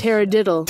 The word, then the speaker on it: taradiddle: Taradiddle. Okay, taradiddle, not pterodactyl.